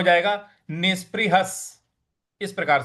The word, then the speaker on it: निष्पृहः: देखिए यहां पे नी के आगे जो विसर्ग लगा हुआ है उसका भी उच्चारण स ही होगा। तो ये हो जाएगा निष्पृहः निष्पृहः। और ह के बाद जो विसर्ग है उसका उच्चारण हमें आगे जो स लगा हुआ है उसके साथ जोड़ देना है।